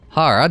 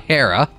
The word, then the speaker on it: Hara: Hara, not Hera.